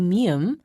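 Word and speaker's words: 미음: we add strokes to mium we can make the character like meme is pronounced by putting your lips together first and then opening them while mium is a nasal sound pip is not listen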